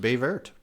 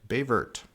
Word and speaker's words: Baie Verte: was a byelection in bayt Green Bay I that is how it's pronounced I I found it it's pronounced BT BT um to get get